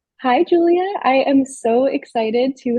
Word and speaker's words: Giulia: It's spelt differently, so a lot of times people call me Giulia by mistake, but it is Giulia.